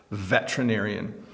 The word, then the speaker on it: veterinarian: You want to sound it out, but we actually really smush this part together. So we say veterinarian.